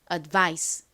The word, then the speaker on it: advice: 읽어 보면 advice 됩니다 아까 말씀드렸듯이이 I 부분에 강세가 있어요 그러니까 advice advice 이렇게 그 부분을 강조를 해서 발음을 해 주셔야 합니다 따라해 볼게요 천천히 볼까요